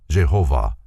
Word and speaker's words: Jehovah: of the modern Savant the tetragramaton or the four-lettered name of God written thus is pronounced Jehovah the first letter is